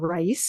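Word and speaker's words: Raíz: So did this great tasting menu called rice, which was really good. Okay. Sort of like your elevated menu. Well, I think it was rice spelled like RAIZ, so sort of like a nod to mice.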